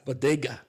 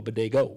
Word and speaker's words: bodega: No, it's pronounced bodega. Bodega. But initially you were saying I was saying bodega. You were saying I want to go to a bodego.